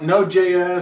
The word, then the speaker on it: NodeJS: How do you say it? NodeJS? NodeJS. Some of the guys just say Node, like the super uber geeks, maybe. Okay. So, but I just say NodeJS.